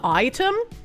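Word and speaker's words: Aitum: I use uh item, which is spelled AI TU M.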